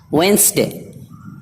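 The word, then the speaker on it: Wednesday: वेंसडे, वेंसडे, इसमें भी डी खामोश है, साइलेंट है, इसे नहीं पढ़ेंगे।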